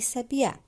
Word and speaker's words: sabiá: Agora, quando vocês foram separar o sabiá, vocês puderam observar assim: sabia. Então, qual é a sílaba tônica? Ela ficou no A.